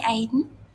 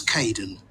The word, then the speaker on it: Kaeden: Hi, Aiden. It's Caden.